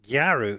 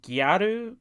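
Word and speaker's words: gyaru: which is a common place for Street fashion garu oh my God oh my God really garu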